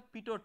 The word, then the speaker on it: Pitot: So the device is based on this conceptual understanding is known as a Pitot Tube. So the last t is silent so it is pronounced as Pitot Tube.